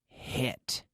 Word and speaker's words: hit: Ok, bueno, en inglés la H no se pronuncia como la J, no es justo como la J, porque la J es más, más de garganta, y eso no vale en inglés, ¿vale? Es más suave.